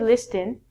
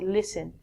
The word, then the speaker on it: listen: first word is listen we don't say listing you say listen listen is like hearing